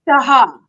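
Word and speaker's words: Tejas: The town is, okay, I would have said Mexia, but you say, pronounced Mejia. Oh, right. Even like Spanish. Texas is Taha.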